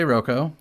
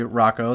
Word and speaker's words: Roko: I'm going to say Roko. Okay. And if you say Rocco, then I'll yell at you because that's what you're supposed to do when somebody pronounces something totally validly a different way.